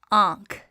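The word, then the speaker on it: آنکھ: And remember, noon gunna is nasalized, so it's not pronounced as n, as noon is.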